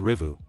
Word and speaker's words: Revo: The bike is called Rivu, it is spelled Revo, but still it is right to say Rivu.